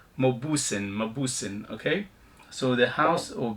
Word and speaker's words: Mauboussin: Anyway, so it's Mauboussin, okay?